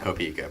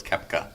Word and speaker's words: Koepka: Now I can't say it because it is not Copeka. Brooks Koepka. Koepka.